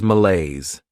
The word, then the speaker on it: malaise: unethical Behavior next is malaise this word has two syllables and the stress is on that second syllable Mala this is not